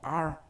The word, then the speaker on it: are: Y la R es muy diferente que la R que pronunciamos en español. Esta R se logra enrollando la lengua hacia atrás, pero sin tocar el paladar. O sea, la R de aquí, la R del español sería R. Y esta es we are.